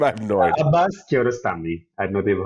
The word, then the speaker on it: Kiarostami: Kiarostami, right?